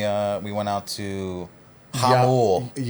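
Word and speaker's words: Jamul: And uh we had learned when we were there it's pronounced Hamul.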